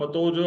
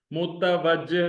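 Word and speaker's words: متوجه: आपको मिसाल देता हूँ, मतोजो आप नहीं पढ़ते, मुतवज्जह। जैसे मुतवज्जो में ते और वाव अलग अलग आप प्रोनाउंस करते हैं, तवहा में भी ऐसे होता है।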